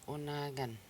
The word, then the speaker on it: unagan: The next word is unagan. Unagan. Unagan. So there's 3 syllables in this word, and the final is N.